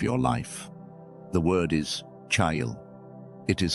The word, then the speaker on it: chayil: But the way it sounds in Hebrew is closer to kai-il. Two syllables with a soft breath at the front and a quiet landing at the end.